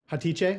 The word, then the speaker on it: Hatice: Hatice, is that how you say it? Yes. Oh, thank you. Yes. This is the exact name.